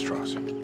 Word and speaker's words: Strauss: it comes to Strauss versus Strauss Strauss it's pronounced Strauss so for op's 1954 security clearance hearing Strauss